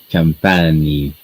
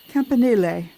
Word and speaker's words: Campanile: I'm bad at pronouncing things. Put it in the chat. So There it is. St. Mark's Campani. Campine. Campanile.